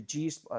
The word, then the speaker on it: Gi Spot: I think they pronounce it as a G spot. It's the G spot. It's like, but it's spelled Gi Spot, but they make the I really small, so it says G Spot. But it's kind of a play on words, both Gi and G.